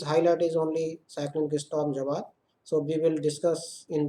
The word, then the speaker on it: Jawad: So in this briefing we will discuss about the highlight of cyclonic storm Jawad, pronounced as Jawad, over West Central Bay of Bengal, which has intensified today over West Central Bay of Bengal 11:30 hours IST of today.